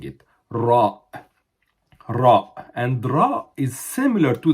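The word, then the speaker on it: راء: tongue is moving while we are pronouncing it ra ra and is similar to the D in shape but instead of having like an angle it's like a quarter of a circle okay ra and it's how it is joined is exactly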